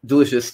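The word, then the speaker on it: del.icio.us: I think you're supposed to pronounce it delicious, so I'm going with that.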